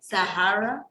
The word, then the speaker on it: Zahraa: Zahraa. Oh, Zahraa. In Arabic, in Arabic, you pronounce the H. In English, in Arabic, it's Zahraa. And in English, it's Zahraa.